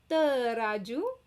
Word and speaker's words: Teraju: So the T in Malay is not T. We shouldn't feel the air. So it should be dry.